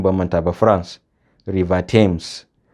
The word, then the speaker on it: Thames: Number 6 aka ce note also that in some names like Thames, Thomas and Anthony, th is pronounced as t.